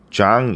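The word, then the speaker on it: Jean: 걸까요 주앙 겁도 가여 이 프랑스 사람인가 봐요 그래서 지니게 주앙 이라고 발음이 되거든요 주앙 콕토 해놓고 동격의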